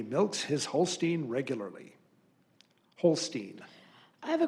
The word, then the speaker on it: Holstein: The word is Holstein. Holstein. Alternate pronunciation, Holstein.